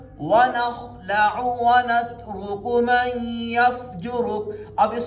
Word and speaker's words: وَنَخْلَعُ: تو یہاں پہ ہم نے پڑھنا ہے وَنَخْلَعُ، عین کی آواز نکالنی ہے درمیان گلے سے. وَنَخْلَعُ وَنَخْلَعُ وَنَتْرُكُ مَن يَفْجُرُكَ.